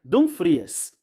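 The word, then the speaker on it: Dumfries: Dan Fre disse que, aliás, dizem que se pronuncia Dom Fries. Até ele mesmo, acho já falou isso. Acho estranho dizer Dan Freeze.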